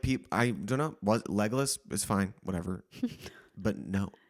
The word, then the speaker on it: Legolas: Also, is it Legolas?